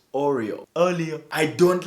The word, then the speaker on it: Oreo: But according to me, this is the sound that comes out of a Bemba man's mouth whenever he tries to pronounce the biscuit Oreo.